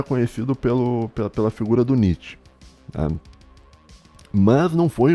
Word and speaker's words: Nietzsche: filósofo alemão chamado Friedrich Nietzsche. Nietzsche é que fala. E tem um pessoal meio brasileiro que não sabe pronunciar, eles falam Nietzsche. Como é que é? Nietzsche, tá? Mas é Nietzsche, tá?